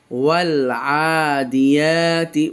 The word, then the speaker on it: والعاديات: ওয়াল আ দিয়াতি, খাড়া যাবার এক আলিফ পরিমাণ টান। ওয়াল আদিয়াতি, ওয়ালাম যাবার ওয়াল, আইন